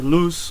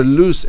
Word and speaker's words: Luz: Luz, or it's fine. Okay, so Luz actually is the correct pronunciation. Luz. Yeah. Luz, it means light.